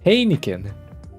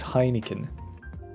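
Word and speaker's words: Heineken: when drinking hanin H hanin hanin that's how you pronounce it for some reason I want to pronounce it as hinin how does beer taste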